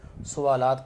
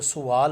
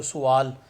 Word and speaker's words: سوال: تو ایکسرسائز میں سب سے پہلے آتے ہیں کون سا حمد کے حوالے سے درج ذیل سوالات کے جواب لکھیں. یہ ایکچوئل تلفظ جو ہے وہ سوال ہوتا ہے, عام طور پر اس کو سوال